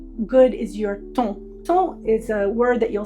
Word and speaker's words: ton: it was based on how good is your ton is a word that you'll sometimes see in Regency books. It's spelled t o n.